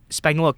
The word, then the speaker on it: Spagnuolo: well, I forget the Chiefs, how do you pronounce his last name? Spagnuolo.